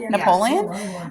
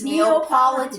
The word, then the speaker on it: Neapolitan: Napoleon?